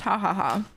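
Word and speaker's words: jajaja: I know that you don't say it it's pronounced hahaha because the J is yeah I know Chad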